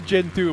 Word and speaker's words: Gentoo: Yeah, it's Gen 2, but it's spelled Gentoo, not Generation 2.